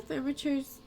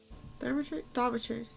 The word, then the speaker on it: Thaumaturge: Jupiter, this is the Thermature's cat, or more. Thaumaturge.